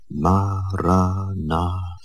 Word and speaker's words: Maranatha: And I suggest that you articulate it in your mind, silently, with equal stress on each of the four syllables. Maranatha.